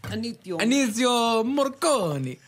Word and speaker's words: Ennio Morricone: Ennio Morricone.